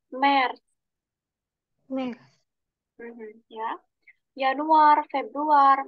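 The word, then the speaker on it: März: M, A umlaut, R, Z. Dibacanya Mer.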